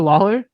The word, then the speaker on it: Lawler: Is it Lawler? No, it is a lot. No, you had it right. You got it right.